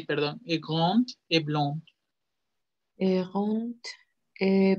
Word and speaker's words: grand: Dicen grand con T, bien marcada. Il est grand, elle est grande, grande. ¿Sí? Hay varias D al final que tanto los franceses como los alemanes pronuncian como una T.